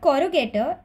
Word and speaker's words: corrugator: frowning missile is that the word corrugator rhymes with the word interrogator and an interrogator will